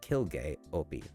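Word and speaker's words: Quilge Opie: The Quincy introduces him as Kilg Opie, pronounced crazy with a Q.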